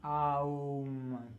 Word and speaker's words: Om: We write it O-M, Om. We pronounce it as Aum, 3 letters.